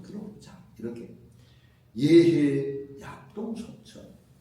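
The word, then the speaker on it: 豫兮: 단편을 좀 들어보자 이렇게 예해 약동 속천 예 이건 여하고 읽으면 안 되고 예라고 읽어요 예해 약동 속천 아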